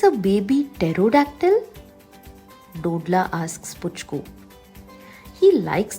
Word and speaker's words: pterodactyl: Do you think it's a baby pterodactyl? Dodla asks Puchku. He likes the word pterodactyl. The P is silent, like a secret.